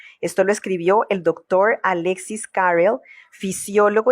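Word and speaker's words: Alexis Carrel: Esto lo escribió el doctor Alexis Carell, fisiólogo y cirujano francés premio Nobel en 1912. Tal vez la pronunciación es Alexis Carel.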